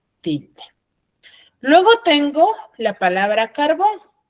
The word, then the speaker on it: carbón: Luego tengo la palabra carbón. ¿Dónde tiene la mayor fuerza de voz? En bone, ¿cierto?